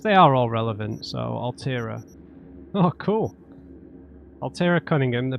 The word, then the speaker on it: Altera: I'm only saying Altera because I don't pronounce the T properly on Alt. Unless I do it like that, which sounds forced in my accent.